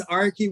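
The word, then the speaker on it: Arky: i apologize i know that your name is spelled a-r-k-y and i couldn't correct it in the zoom so everybody please take note that last name is archie with one a and not with two my apology okay and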